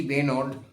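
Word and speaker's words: Benaud: সালে ভারতে সফরে আসা ও অস্ট্রেলিয়ান টিমটির অধিনায়ক ছিলেন রিচি বেনোর। উচ্চারণ রিচি বেনো বেনেউড বেনো রিচি বেনো দুর্ধর্শ অধিনায়ক যেমন অধিনায়কচিত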